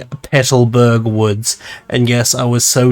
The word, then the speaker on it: Petalburg Woods: For example, there's the Magma Grunt in the Pelterberg Woods. I mean Petalburg Woods.